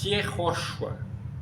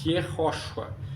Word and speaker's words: Yehoshua: O caso é I, porque a pronúncia não é como Y, a pronúncia própria. É um I bem fraquinho, soproso, consonantal. Yehoshua. Yehoshua. Que vai ser quase como se fosse. É uma consoante, pô. Não é uma vogal, não é Yehoshua.